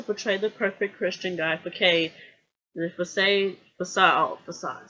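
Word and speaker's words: façade: the perfect Christian guy, facade. C is silent, French Dakar. You see that little sign at the bottom of the C.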